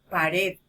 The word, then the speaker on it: pared: se escucha a ver pared donde estamos haciendo mayor fuerza de voz en la última sílaba en la sílaba red